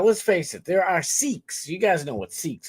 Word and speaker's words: Sikhs: Now, let's face it, there are Sikhs. You guys know what Sikhs are, right? It's spelled sick people, but it's Sikhs.